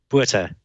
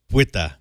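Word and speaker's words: Botha: It's spelled B-O-T-H-A, but it sounds like? Buta. Buta.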